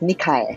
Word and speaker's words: Nikae: is that pronunciation correct uh last name is pronounced nikai nikai yes I had to go to Google